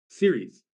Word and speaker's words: Ceres: Series. So it's CERES is pronounced series, like television series.